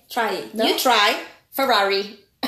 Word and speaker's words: Ferrari: Ferrari. Ferrari. Ferrari. Right, Nicolette? This is how you Did pronounce you hear it. My tongue rolled?